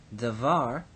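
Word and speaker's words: דָּבָר: of the word so when it is simply by itself devar the accent is on the second syllable there var and so so the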